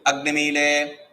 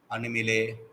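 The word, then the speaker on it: अग्निमीळे: He will say Agnimile, this fellow will be Animile. He says Agnimile and you are saying Animile.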